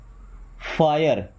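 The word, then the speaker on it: fire: Okay, then फायर, इसको फिरे नहीं पढ़ते, फायर।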